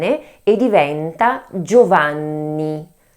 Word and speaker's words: Giovanni: The double N must be pronounced in a way more strengthened than a N alone, that's why we need